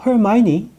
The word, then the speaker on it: Hermione: 그리고 영어로 헤르미온느가 Hermione쓰죠. 근데 영국 영어는 Hermione.